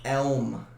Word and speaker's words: Elm: Elm. Like elm tree.